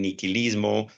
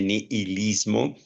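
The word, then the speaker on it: nihilismo: que ya hemos hablado en otras ocasiones del niquilismo o algunos la pronuncian con h niilismo y que es ya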